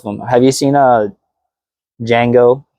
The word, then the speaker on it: Django: Have you seen uh Django, but the D is silent?